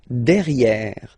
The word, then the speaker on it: derrière: Derrière. So if you look carefully, you've got E here and then double R, so it will open the sound of this E, and you should pronounce it E, okay?